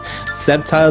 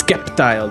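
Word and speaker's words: Sceptile: I assume I'm pronouncing that right. He's all, no, you got it completely fucking wrong. It's Skeptile the Slayer.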